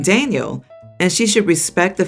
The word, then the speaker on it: Daniel: Ever since he was born, she's been calling him by the Spanish pronunciation of his name, with an emphasis on the end. Kinda like Daniel instead of Daniel like I imagined.